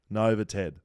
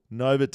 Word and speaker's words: novated: okay mispronounced the word Nova Ted now that he is employed by paywise I can't stand by any longer and listen to him say noved it is pronounced novated not noved I look for forward